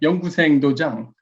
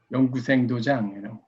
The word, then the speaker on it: 연구생 도장: Go school, which is called, very difficult to pronounce, in fact, 연구생 도장. 연구생 도장, it's not easy.